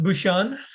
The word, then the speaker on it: Bucshon: It's pronounced Bucshon.